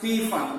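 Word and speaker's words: Pfund: in ir region and fund the series okay some teachers pronounce p fun no problem p f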